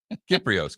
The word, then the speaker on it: Kypreos: It actually pronounces on Twitter as Kyper, Kyper, even though his last name is spelled differently.